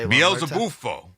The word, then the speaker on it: Beelzebufo: Beelzebufo. Beelzebufo.